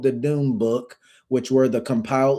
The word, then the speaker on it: Dome Book: Dome, but it's spelled No, it's called the Doom Book. And Doom is spelled D O M E. So, it was called the Doom Book, but it was Doom M.